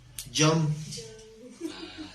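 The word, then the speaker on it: יום: Yom.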